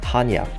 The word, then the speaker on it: Chania: biggest cities in Crete, Hania. Or as it's written, Chania, but pronounced like Hania by the locals.